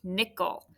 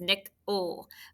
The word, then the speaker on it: nickel: But this is that upside down, unexpected schwa, nickel. It almost seems like it disappears and all you hear is nick-ul with an L.